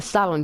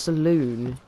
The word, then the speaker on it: saloon: The salon, do you mean the saloon? It's pronounced saloon.